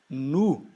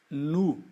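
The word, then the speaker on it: nous: é el Ok e o nos nu nu tá esse essa junção dessas vogais o e u sempre sempre em francês em qualquer palavra vai ter som de u o s no final das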